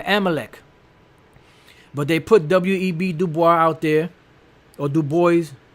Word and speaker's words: Du Bois: Du Bois out there, or Du Bois, however you pronounce it. It's a French name. It's Du Bois, I remember.